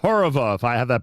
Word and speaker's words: Horova: It is in fact called Horova if I have that pronounced properly.